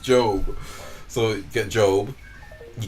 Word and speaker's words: Gob: favorite characters um job but his name is spelled with a G it's not j o b e it's j it's g o b Gob but it's pronounced it's pronounced it's pronounced job so you get job